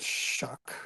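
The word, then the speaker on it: Shough: And Tyler, I think you say it shuck, right?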